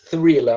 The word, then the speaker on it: thriller: Thriller. A pronúncia é um pouquinho difícil, né? Porque tem TH, né?